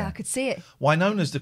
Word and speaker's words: Winona: Winona's the correct pronunciation.